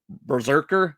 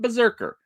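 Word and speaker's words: BRZRKR: Berserker is, I guess, how we want to pronounce it. I mean, there's no vowels, so it is kind of a tough word to kind of just put out there.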